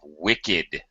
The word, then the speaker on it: wicked: For example, think about the adjective wicked. W-I-C-K-E-D. He's a wicked man. Wicked, not a wicked man. It doesn't follow the rules. And you're right. I was so embarrassed. It has actually D pronunciation.